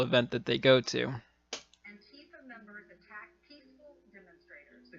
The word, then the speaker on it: Antifa: I'm gonna botch how it's pronounced. Antifa? Antifa? Antifa? Antifa? Yeah, Antifa.